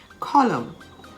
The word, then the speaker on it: column: season of the year a-u-t-u-m-n autumn the n is silent column c-o-l-u-m-n him h-y-m-n condemn c-o-n-d-e-m-n how about silent